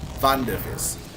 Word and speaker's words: Wonderfizz: You have to pronounce it with German accent. Wonderfizz.